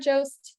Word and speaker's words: Jost: Hi, I'm Jost. Last name rhymes with toast.